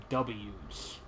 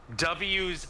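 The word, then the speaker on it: W'z: it's Sequel and this pisses me off is pronounced W's W's oh wow W's oh boy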